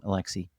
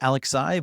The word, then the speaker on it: Alexi: So, I said Alexai, but is it al Alexi? I go by Alexi.